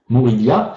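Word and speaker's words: Morivhya: Ce code, ça s'écrit M-O-R-I-V-H-Y-A, Morivia.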